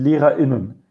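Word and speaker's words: Lehrer*innen: Esto significa que, por ejemplo, acá se dice, en vez de, no, se dice die Lehrerinnen. No, esto es, bueno, la forma femenina sin el asterisco sería die Lehrerinnen, y con el asterisco die Lehrerinnen.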